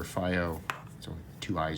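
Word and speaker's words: FiiO: you can go to Foo or F two eyes always seem like f to me but um I've heard it pronounced both ways but uh you know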